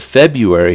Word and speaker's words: February: now the month of february has suffered the same r dropping fate yet few americans fail to drop the first r in casual conversation the most common pronunciation is february not february we seem to be